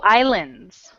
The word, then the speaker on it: island: I slim no oh islands an S the S is silent I okay I okay